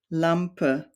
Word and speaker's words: Lampe: of German words, Sonne, Lampe, Karte. So whenever you see an E at the end of a word, it's usually pronounced like a short E, or like a schwa sound in English.